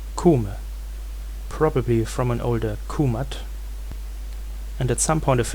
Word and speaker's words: Kúmat: We can also go further back in time, until a time where the T was still pronounced. Then it was Kúmat.